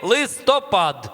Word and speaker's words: листопад: тому що це листопад правильний наголос в цьому слові листопад а ви не бачили